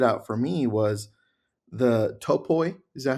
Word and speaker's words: topoi: One of them that stood out for me was the topoi. Is that how you pronounce it?